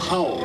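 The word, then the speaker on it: hau: It's called how. It's spelled H A U.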